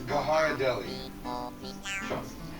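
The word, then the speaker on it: Ghirardelli: for its true value it's Gara Deli the age is silent okay it's just the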